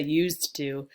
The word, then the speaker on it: used to: then also note that native speakers and anyone who speaks quickly usually you drop the D sound at the end of used used to because we don't say used to because the t is right there with the two so we just hear